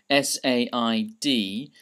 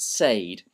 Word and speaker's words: said: Um so you might think that it's pronounced sad, but it's not. The correct pronunciation is said. Um a bit like s e d. Imagine that it's spelled s e d.